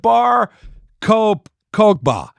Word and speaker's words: Bar Kokhba: How do you pronounce it? Bar Kokhba.